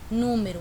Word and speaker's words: número: começo então quando eu coloquei aqui que eu pronuncia a palavra número eu percebi que é a sílaba mais forte